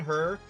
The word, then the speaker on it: hir: I don't know if they say it the same way, but it's said she and her, but it's spelled SHI and HIR.